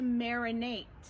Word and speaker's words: marinate: The verb is to marinate with a t sound at the end.